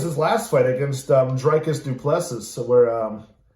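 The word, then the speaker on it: Dricus du Plessis: last fight against um dreicus duplesses where um or drake is duplicity as he as he pronounces it um and he just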